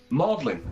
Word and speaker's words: Magdalen: Now it's Magdalen, yeah, Yeah. and it is spelt Magdalene, as in Mary Magdalene.